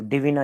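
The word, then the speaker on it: Dvina: यहां पर कंप्लीट हुआ ये जो डि विना है इसका स्पेलिंग आपको दिया है डी आई वी आई एन ए तो इसको डि विना ही हम लोग इसका प्रोनंसिएशन है तो डि विना यह हो गया मेजन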